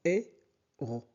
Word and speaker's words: héros: H en français ne se prononce jamais. Donc, héros. S ne se prononce pas. Donc, héros. On prononce héros.